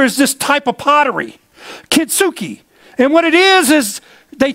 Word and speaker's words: Kintsugi: Kintsugi is how you say the word.